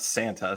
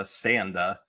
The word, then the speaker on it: Sanda: So we have our titular Sanda, not Santa, Sanda. Right, because of how Japanese pronunciation works, and also I think Sanda might be a real name.